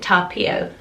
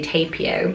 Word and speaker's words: Tapio: So in Finnish they pronounce it Tapio, Tapio, with the sort of strength on the P, but you could say Tapio.